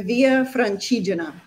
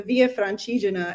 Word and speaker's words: Via Francigena: pilgrimage route that went to Rome called the Via Francigena. And I will spell that for everybody's benefit because it probably just sounded like I sneezed.